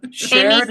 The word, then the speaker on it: Sharon: All right, I will be Sharon. Wait. Rhymes with Karen.